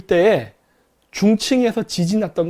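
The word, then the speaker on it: Chongqing: 최근 우한 폐렴 돌 때에 중층에서 지진 났던 거 아세요? 중층, 한국 발음을 하면 중경이죠.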